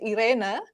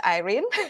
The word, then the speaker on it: Irene: And everyone, I'm Irene, or in the Netherlands, and also in my home country, Indonesia, it's pronounced Irene, but I also respond with Irene.